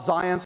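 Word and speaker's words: Zajonc: aim but work by Bob science that's how you say that it rhymes with science very famous social psychologist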